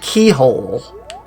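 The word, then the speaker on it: Cichol: the saint which was fine but apparently it's pronounced keyhole mm-hmm I'm like keyhole that's definitely not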